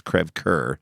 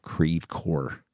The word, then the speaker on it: Creve Coeur: we lived in Creve Coeur, Missouri. If you studied French at all, that's Creve Coeur. Yeah. But St. Louisans called it Creve Coeur.